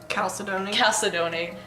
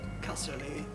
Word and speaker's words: Chalcedony: Chalcedony. She can like they can like bond and you know share their. It's spelled with a CH, but it's that Greek CH, so it's like a K.